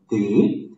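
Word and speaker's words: des: S it means some it's pronounced as they um and it's used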